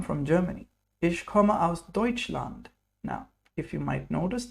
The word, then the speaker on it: Deutschland: Ich komme aus Deutschland. Now, if you might notice the way I pronounce Deutschland, T is kind of silent, yes, and T and S both semi-silent.